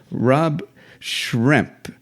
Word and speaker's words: Rob Schremp: I have with me Rob Schremp. Did I pronounce that correct, Rob?